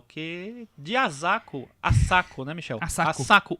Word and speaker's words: Asako: Asako. 1 e 2. A Cris me ensinou a pronunciar Asako.